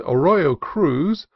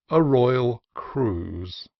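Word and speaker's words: Arroyo Cruz: to as Peter's blankets and a Royo Cruz the name of a neighboring Canyon as a royal Cruise the sanapa is deep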